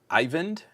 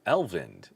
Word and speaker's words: Ivend: here in El uh ivend uh E N D I think I've been saying Elven for the last couple times I've seen your name pop up and I've been incorrect so I apologize for